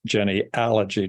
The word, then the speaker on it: genealogy: here and that is genealogy is spelled with an a just in case you hadn't noticed it's not g-e-n-e-o-l-o-g-y like everything else out there like and like psychology and stuff like that it's Jenny allergy Johnny with an a